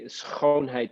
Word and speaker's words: schoonheid: I understand that your mantra is, and I'm going to butcher the Dutch, so please forgive me, is schoonheid?